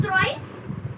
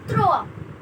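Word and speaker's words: trois: It's not thrice, it's throw.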